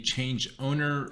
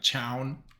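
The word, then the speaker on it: chown: of the file now let's get into the change owner or change own however you want to pronounce it so it's just like Chow so to change a file's owner um you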